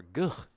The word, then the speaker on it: GH: for good old GH, or Guh, as he's called. Guh. All right. That's how I would pronounce it. I don't expect Americans to pronounce it like that.